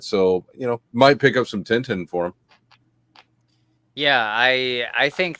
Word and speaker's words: Tintin: Noob asked, what is our opinion on we pronounce them Tintin. I've heard some people call them Tonton because it's French in origin.